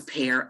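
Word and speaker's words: Pair: Am I pronouncing that correct? Pear Magnetic eyes? glasses. Yeah. Pear eyes. P-A-I-R, eyewear. P-A-I-R. Pear Eyewear.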